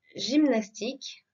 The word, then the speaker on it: gymnastique: Nous voyons tout d'abord le Y dans gymnastique. D'accord? Donc il se prononce I.